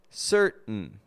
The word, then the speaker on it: certain: So when an unstressed syllable begins with the letter T and ends with the letter N, we will usually make a reduction between the 2 letters and only pronounce the N sound.